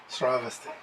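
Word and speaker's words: Śrāvastī: Sravasti. With no, but then I give a bit too much stress on the first syllable, just because it's long. Sravasti.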